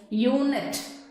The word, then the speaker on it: unit: In the same way, third example, unit.